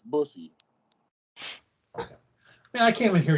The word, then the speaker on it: bussy: right in the busty you know you're pronouncing it wrong it's bussy man i can't even